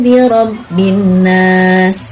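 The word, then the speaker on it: بِرَبِّ النَّاسِ: Misalnya Qul a'udzu birabbin nas. Nah, birabbin nas. Ketika nun bertasydid itu dibacanya harus dengan cara tahan, gitu ya. Dengungkan dan tahan.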